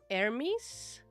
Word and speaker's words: Hermes: It's pronounced with the H. Yeah. Yeah. Hermes.